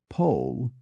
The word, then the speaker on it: Powell: becomes Lord Hume the novelist Anthony Powell becomes pole PG Woodhouse becomes Woodhouse the poet William cper